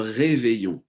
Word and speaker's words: réveillon: So keyword here, le réveillon. And you will notice the pronunciation of this word. Double L in French accounts for a Y sound.